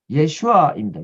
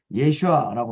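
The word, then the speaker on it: יֵשׁוּעַ: 물론 여호수아가 한 건 아니고 하나님이 하셨는데 여호수아를 통해서 그렇게 하셨다고 그랬는데 이 여호수아라는 말의 정확한 히브리 발음은 예슈아입니다. 예슈아.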